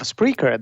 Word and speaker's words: Spreaker: the co-founder and the CEO of spreer that's actually how how you pronounce it but as we had a short conversation before the show I mean I think everybody's free to pronounce it uh as they like right and I've been